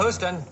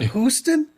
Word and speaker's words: Houston: Now, if he'd been in New York, right, if this had been a New Yorker, he would have said Houston, because that's how Houston Street's pronounced, spelled the same South way. of Houston, yes. But Houston, I've never heard that.